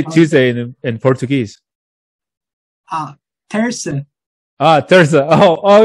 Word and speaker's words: terça: Terça. Terça. Oh, it's kind of like. Terça-feira.